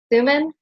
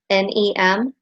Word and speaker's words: Thunem: And with that, I recommend visiting, and if I mispronounce her name, please let me know and correct me, Hilda Thuman, it's Thunem, and her website I have found to be very informational.